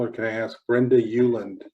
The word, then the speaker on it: Ueland: And people are going to ask Brenda Euland. Euland is spelled Ueland, and she's famous for a book called If You Want to Write.